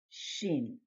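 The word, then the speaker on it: שׁ: there's two forms shin always uses a dot on the upper right hand corner of the letter it's sheen when this letter uses the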